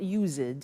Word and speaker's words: used to: Look at the spelling. It's U-S-E-D and then T-O. But the pronunciation is not used, it's used.